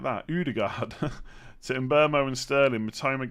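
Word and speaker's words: Ødegaard: Rashford and Odegaard. Why did I say it like that? Odegaard.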